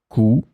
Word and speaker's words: coup: In this lesson, we will see together three words that are written differently but pronounced the same way. Coup, coup, coup.